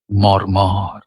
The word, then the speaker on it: মর্মর: করে শব্দটা উচ্চারণ করছি মরমর মরমর মরম দুটো সিলেবেল মর আর মর এবং এখানেও কোন জোরালো ঝোক কোথাও নেই মর্ম এবং এখানেও একটু